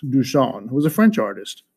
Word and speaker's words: Duchamp: well first of all dusan pronounced dusan who was a french